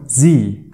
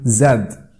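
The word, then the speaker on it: Z: واي واي واي زي باللهجه الامريكيه بنقول عنه زي اما بالبريتش فيك تقول زاد طيب هلا وقف الفيديو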